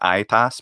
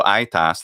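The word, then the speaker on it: aetas: like what's a word, like a Latin word you might know is aitas, meaning aged. So aitas, that I had already become e in rustic Latin, and they were made fun of for it.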